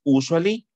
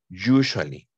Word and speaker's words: usually: No es usually. Es you. Usually. Usually. Como si fuera Y al inicio.